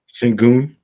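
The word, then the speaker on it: Şengün: How do you pronounce it? Sengun.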